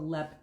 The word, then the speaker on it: Leap: infamous castle uh called lep castle and it's spelled leap but it's pronounced lep so uh if you